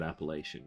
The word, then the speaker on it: Appalachia: Appalachia, lack as in lack.